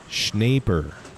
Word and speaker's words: Schneider: we appreciate you ron schneider schneider rhymes with paper i see hey that's